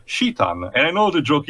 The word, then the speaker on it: Citan: You can mention this also in the traditional English way, Citan, but also in a way that the proper correct way in Japanese also is Shitan.